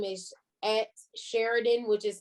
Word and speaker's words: Sharidan: So on Instagram, my screen name is at Sheridan, which is spelled SHARIDAN underscore underscore KC.